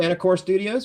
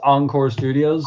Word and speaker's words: Encore Studios: Anacore Studios, right? There we go. Yeah. Yeah. Pronounced Encore Studios.